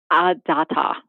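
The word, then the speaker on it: Dataw: Is it Detaw? Is that how it's pronounced? Data.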